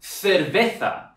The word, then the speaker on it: cerveza: For example, in Spain, when they pronounce the C and the Z, it sounds different. Cerveza. That sound is the same as the th sound that TH makes in English.